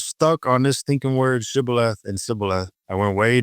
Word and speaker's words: Shibboleth: But as far as where we're going, that's Shibboleth, and he said Sibboleth. Well, he couldn't pronounce it right, so they recognized them by the accent.